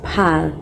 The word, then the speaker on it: parlent: Ils ou elles parlent, it ends with ENT. But the ENT is silent. Parle, ils ou elles parlent, they speak. But the ENT is silent, okay?